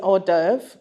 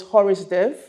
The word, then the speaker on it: hors d'oeuvre: And it was, the first one was an hors d'oeuvre, and it was Horace d'oeuvre for me because I didn't know how to pronounce it, never heard.